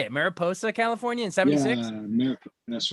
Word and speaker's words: Mariposa: born in Mar how do you say it Mariposa California that's right California not far from you